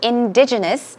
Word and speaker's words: indigenous: tiger right okay so indigenous indigenous stress goes right here primitive native or native